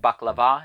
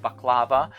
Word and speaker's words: baklava: Now, of course, I'm Greek, so I'm going to pronounce it baklava instead of baklava.